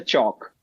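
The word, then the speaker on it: Chandni Chowk: The last word the chalk. Chalk. So the chney chalk.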